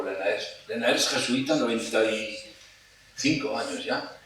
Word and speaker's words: Lenaers: Se puede pronunciar Lenaers porque no es inglés, no es Liners ni es Lenaers porque es un flamenco, ¿eh? Y no sabemos cómo se pronuncia en flamenco, pero lo estamos viendo por todas partes un poco como Lenaers.